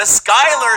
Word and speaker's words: Schuyler: gonna be a toughy the Skyler sisters but it's spelled the Schuyler sisters all we lost a